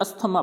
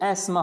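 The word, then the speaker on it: asthma: फिर है यानी इसको अपन क्या पढ़ते हैं, अस्थमा पढ़ते हैं, अस्थमा नहीं होता है ये, एस्मा होता है, क्या होता है, एस्मा, यानी एस्मा।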